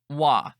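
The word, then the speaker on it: は: whom we are talking hiragana ha we pronounce as wa when we use for particle Des means to be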